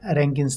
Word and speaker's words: Rankine: as arank Kine but the more common pronunciation especially in engineering circles is Rankin now Rankin made few